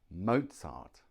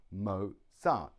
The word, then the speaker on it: Mozart: is Mozart Mozart now here we have the Mozart two syllables Mozart the stress is on the first syllable mo mo Mozart Mozart